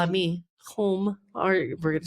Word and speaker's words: Hulme: name but home maybe h u l m e home like home yeah like kind of like kind of like a PO but it's a home yeah it's like hu l